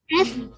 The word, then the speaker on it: has: Has වැඩි වෙලා කියන්නේ increase. increased. ඒකට present perfect ah. tense එක present perfect. ඔයගොල්ලෝ මේ s එක z වගේ pronounce කරන්න has.